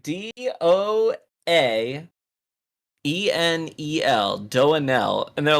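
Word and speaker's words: doaenel: it's like doing l it's like do an l i think it's how you pronounce the the person's the streamer's name it's like d-o-a-e-n-e-l do an l and they're like too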